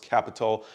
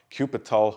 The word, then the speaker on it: Qapital: has a strange name it's pronounced capital just as how you would say it with a c however i had to search for the pronunciation because i thought it was uh cupital or apital at first now this